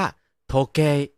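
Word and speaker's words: 時計: มี เวลา ซะ ที คำ นี้ อ่าน ออก เสียง ว่า โทเก โทเก คน ไทย จะ ได้ ยิน เป็น โทเก ใช่ มย คน ไทย ไม่ ได้ ยิน เสียง ตัว อิ ใช่ มั้ย ให้ เพื่อน ๆ จินตนาการ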